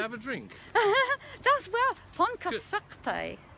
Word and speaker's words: Pontcysyllte: I always call it the Pontycysyllte. I've been talking to a lovely couple called Pete and Joe, and they told me it's Pontcysyllte.